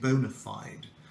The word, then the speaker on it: bona fide: what it means so the correct pronunciation is an American English bona fide but I prefer the British pronunciation Bona flight I will explain why